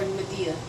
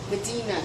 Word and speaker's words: Medina: Is it Medina or Medea? No, I'm sorry. Medina. That's what I meant to say. Medina is correct.